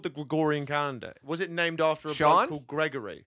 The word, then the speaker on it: Gregorian: okay here's the problem I mispronounced the word it's the Gregorian calendar yes I figured that